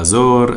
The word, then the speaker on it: Azure: الكلا هالخدمه اللي اسمها اجر من مايكروسوفت نحن هلا رح ندرسها كلمه اجر معناتها لازوردي اللون الازرق في ناس بتلفظها ازور ازوري اللي بدك اياه هي اسمها اجر ان شاء الله بالدرس